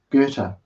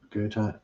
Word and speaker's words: Goethe: In 1722, the father quarrelled with a Captain Goethe, not Goethe, Goethe, gave him a bloody nose, was summoned by